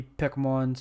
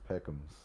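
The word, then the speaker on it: Pekoms: Luffy, Pekmon's, Pedro, Why you keep Chopper, and calling him Nami. Pokemon? Well, you got to put the extra syllable on there. It's Peckums.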